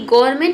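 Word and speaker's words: government: देखिए next rule है कि गवर्नमेंट जो है इसे हम पढ़ते हैं गवर्नमेंट। लेकिन लिखते हैं गवर्नमेंट। ठीक है? तो इसमें आपको ध्यान देना है कि गवर्नमेंट लिखते समय इसमें एन जरूर आएगा लेकिन इसे हम पढ़ते नहीं हैं।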